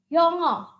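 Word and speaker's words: 영어: dengan mulut yang terbuka yongo ada dua suku kata ya sekolah yang pertama yang bentuknya seperti ini nih Ini dibaca Young kemudian suka yang kedua adalah oh jadi kalau kita lafalkan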